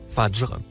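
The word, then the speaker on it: فجر: Le troisième mot, écrit en couleur bleue, se prononce, fajr.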